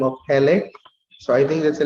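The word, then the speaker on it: Helle: girl's name is hell how do i pronounce it i'll just pronounce it as hell just let me pronounce it as hele to facilitate its spelling as well h-e-l-l-e it so happens that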